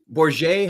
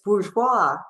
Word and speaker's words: Bourgeois: Trudy, is it Bourget? How do you say your last name? It's bourgeois. Bourgeois.